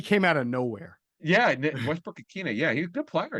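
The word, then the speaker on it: Westbrook-Ikhine: Yeah, Westbrook-Ikine.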